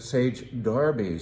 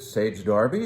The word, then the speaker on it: Sage Derby: I in fact called Sage Derby that instead of Sage Derby.